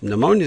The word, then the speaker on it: pneumonia: the very beginning and it has a schwa sound. Now, both of those are talked about in the information section here. Okay, it'll have sounds and letters. We talk about how it's used silent letters. So, we have that and then we have the schwah vile sound. So, pneumonia is going to have both of these characteristics in here.